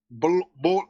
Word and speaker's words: Bol: Bowl. We got to go through this once more with you. Come on, man. Bowl. Wait, bowl. Say bowl twice. You know, like a cereal bowl? Say bowl twice.